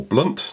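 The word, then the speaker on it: Blount: but actually my favorites lieutenant blanc or blunt depending how you want to pronounce that oh you and he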